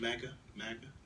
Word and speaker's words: MAGA: MAGA?